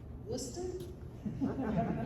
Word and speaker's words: Worcester: One, you'd better know how to pronounce Worcester correctly.